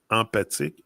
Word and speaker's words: emphatic: I remember emphatic. Emphatic. And PH in French is same thing. It's pronounced like a F.